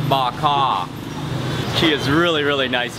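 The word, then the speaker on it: bò kho: okay okay okay so the stew is pronounced bak ha she is really really nice here and a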